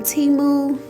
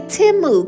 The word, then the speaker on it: Temu: like I said these nails are from teu or should I say timu cuz if you saw the Super Bowl you saw that teu commercial and I have never heard timu say how they pronounce